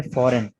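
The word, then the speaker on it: foreign: इसके बाद है फॉरेन। जी साइलेंट है।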